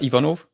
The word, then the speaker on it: Ivanov: How how do you pronounce it? So, it's uh Ivanov.